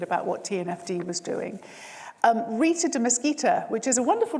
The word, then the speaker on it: Rita de Mesquita: Rita de Mesquita, which is a wonderful name. I realised it rhymes, Rita.